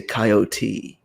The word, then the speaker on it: coyote: from where I am, they say the E, they say coyote.